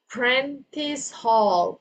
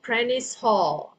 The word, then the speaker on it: Prentice Hall: And then Anna's number 2, the word is Prentice Hall, Prentice Hall, okay?